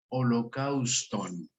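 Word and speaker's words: ὁλόκαυστον: Esta palabra holocausto en español viene del griego, que se escribe como algunos alcanzarán a verlo ahí en pantalla, y se pronuncia holocauston, holocausto.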